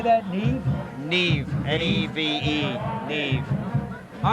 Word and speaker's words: Neve: Neve, N-E-V-E, Neve.